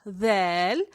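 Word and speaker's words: ذال: The letter dal represents the other sound that the English sound th produces, like in the words then, other, this, those, everyone, every now and then, dhurra, dhal, dhurra, dhal, dhurra.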